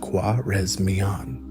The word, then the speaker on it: Khwarezmian: The primary target in the West was the powerful Khwarezmian Empire, pronounced Khwarezmian.